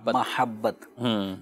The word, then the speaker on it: محبت: لفظ، ٹھیک ہے، اور جب عربی زبان میں اس کا جو تلفظ ہے وہ میم کے زبر کے ساتھ ہے، محبت۔ لیکن کسی بھی زبان